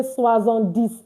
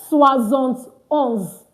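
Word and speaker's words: soixante et onze: be tempted to say swaz on this. No, no, no, no, no, no. 71 is a combination of 70 plus no rather sorry a combination of 60 + 11 that is 70.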